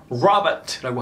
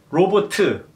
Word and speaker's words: 로보트: 대표적으로 영어로 Robert라고 하죠. 근데 한국어는 그냥 로보트예요. 제가 만약에 선을 그린다면 Robert 이렇게 될 텐데 로보트, all flat 이거예요.